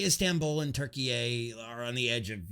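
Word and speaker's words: Türkiye: we go yes it's turkey a it's no longer turkey it's now pronounced turkey a they don't pronounce it turkey anymore it's turkey a they've changed their name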